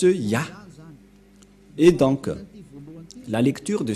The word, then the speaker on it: Yah: C'est clair, d'après cette explication, et personne ne peut contester que c'est bien Yah, la prononciation.